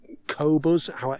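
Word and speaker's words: Qobuz: normal sites like tidal cobras which is how i think it's pronounced apple music itunes store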